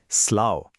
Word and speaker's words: slough: हां इसका प्रोनाउंसिएशन है स्लाओ।